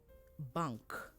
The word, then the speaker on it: bank: and to also understand so ng is so bang and nk is bank so bang is to